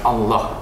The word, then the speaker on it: Allah: Jadi pelafalan Allah dalam Islam itu dilafalkan dengan Allah. Allah. Ya, Allah. Allah. Ya, Allah. Jadi tulisan Allah di situ dilafalkan dalam Islam Allah. Oke?